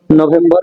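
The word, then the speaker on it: November: অথবা ঠিক আছে এরপরে আছে আমরা বলতাম নভেম্বর নভেম্বর নভেম্বর নভেমবা এখানে ন হবে ঠিক আছে নভেমবা নভেমবা এখানে আর সাইলেন্ট থাকবে যেহেতু আর হচ্ছে ওয়ার্ডের শেষ লেটার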